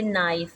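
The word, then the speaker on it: knife: Silent letters जैसे कि नाइफ, नाइफ में अब you know there is a first alphabet that is के। अब के को हमने साइलेंट रखना है, ठीक है, तो बहुत सारे स्टूडेंट्स क्या करते हैं, वो उसको भी फोनेमिकली ट्रांसक्राइब कर रहे होते हैं कि चेंज करें के को किस में करना है। तो डोंट चेंज इट, जो साउंड आपकी साइलेंट है वो साइलेंट में ही रहेगी।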